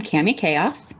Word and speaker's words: Cami Kaos: Hi, I'm Cami Chaos. That's really how you pronounce my name.